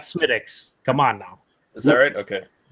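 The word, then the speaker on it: Smithwick's: Just like it's Smithwicks and not Smittix.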